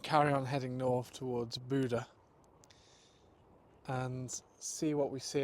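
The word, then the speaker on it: Bodø: made it to well I called it Bodo but my friend this morning who helped with the puncture um calls it Buddha and he's Norwegian so I defer to his pronunciation really um and it's not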